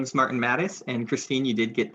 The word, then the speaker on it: Martin Mattes: Tonight, we will be having a presentation by Martin Mattis. Please tell me if I said that wrong, because I've been saying it wrong for a very long time then. You got that right.